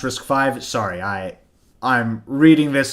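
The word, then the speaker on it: RISC-V: were in 2000 right so yeah it's pronounced risk five sorry i i'm reading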